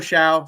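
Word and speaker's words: Shough: it is possible next up we have Tyler shout a lot of people um mispronounce his name uh not really difficult to pronounce but it's just weird spelling obviously uh Tyler Xiao so I have him at number eight and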